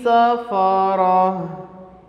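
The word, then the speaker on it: سَفَرَة: മർഫൂഅതിൻ മുത്വഹ്ഹറ ബിഐദി സഫറ. അവിടെ ശ്രദ്ധിക്കണേ, ബി ഐ ദി സഫറ, സെ എന്ന ഉച്ചാരണം സീനിന് വരരുത്. സ ഫത്ഹിട്ട സ എന്നല്ലേ വായിക്കുക.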